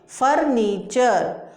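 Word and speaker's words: furniture: इसी तरीके से नेचर, पिक्चर, फीचर, creature, वल्चर, adventure, nomenclature, फर्नीचर। अब बहुत सारे बच्चे फर्नीचर को पढ़ ही नहीं पाते हैं, क्योंकि उनको पता ही नहीं है TURE क्या होता है, चर होता है।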